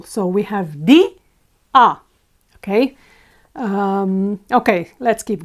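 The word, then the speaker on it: día: the accentuated one so we would normally expect this word to be pronounced DIA however it's not pronounced it's pronounced DIA what does that mean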